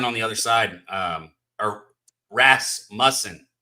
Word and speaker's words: Rasmussen: But then Russman on the other side, or Rasmussen. How do you say his fucking name? I think it's Rasmussen.